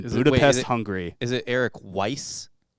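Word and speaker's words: Weisz: 24th 1874 in Budapest Hungary is it Eric Weiss spell it w i s z s c z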